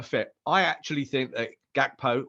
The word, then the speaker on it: Gakpo: I actually think that gakpo or hakapo you're right that is the Dutch pronunciation I think that he